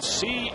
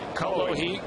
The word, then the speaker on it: Cullowhee: How do you pronounce the name of that town? C-U-L-L-O-W-H-E-E. Cullowhee. Cullowhee.